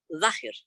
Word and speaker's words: Zahir: En árabe el sahir se pronuncia zahir, y todo estudioso del